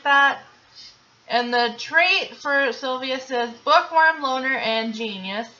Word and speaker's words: Silvius: You say his name was Sylvia? Silvius.